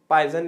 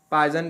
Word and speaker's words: Poisson: पॉइसन ratio या फिर पावसो अनुपात। ठीक है, पॉइसन ही इसका एग्जैक्ट प्रोनाउंसिएशन, ये भी साइंटिस्ट का नाम है, मैथमेटिक्स में भी यूज होता है।